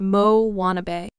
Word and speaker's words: Moanabe: On the fictional South Pacific islet of Motunui, there now exists a variety of tween girl known as the Moanabe, pronounced Mo-wannabe. These eager, occasionally awkward, youthful